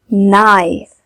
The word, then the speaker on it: knife: KN makes sound. It means K is silent. We don't read it like nope, knit, knife, knock.